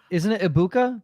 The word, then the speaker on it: Egbuka: Well, they're clearly not a fan of the way Gator pronounces Egbuka. Yes. Isn't it Ibuka? That's what they keep saying. They make it like the G doesn't exist.